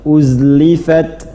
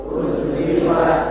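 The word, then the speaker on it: أزلفت: Waidzal jannatu uzlifat. Waidzal jannatu uzlifat. Enggak, jangan ada qalqalah. Bukan huruf qalqalah. Uzlifat. Uzlifat mengalir. Jadi jangan dipantulkan.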